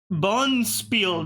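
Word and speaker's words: bonspiel: you know me okay Bon Spiel they they there's no D there's no see it's just Bon Spiel but they pronounce it Bon Spiel cuz it's from Dutch of course it's paron the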